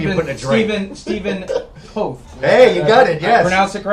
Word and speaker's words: Steven Toth: Steven Toth. Hey, you got it. Yes. I pronounced it correctly?